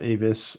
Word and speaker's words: Avis: yeah um origin of Avis uh more on the foundation of uh of Union yeah you notice how Avis rhymes with kis notice how Avis rhymes